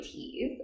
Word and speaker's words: Thies: I have with myself teas um did I say it right yes you do cool like my grandma